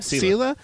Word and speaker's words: Selah: I forget how to pronounce. Selah. Selah.